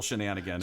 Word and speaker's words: shenanigan: It's just a single shenanigan. It's not shenanigans.